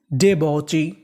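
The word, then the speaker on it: debauchee: BAU, AU को हम लोग इंग्लिश में पढ़ते हैं ऑ, तो मीनिंग बनी डे बॉ। CHEE ची, तो पूरी मीनिंग डे बॉची, डे बॉची।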